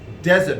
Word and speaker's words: dessert: Again, a good number of people, we pronounce this desert. And desert is like desert, and we also treat this the same way. We do pronounce this desert, but there has to be D. It has to be sounded starting with D.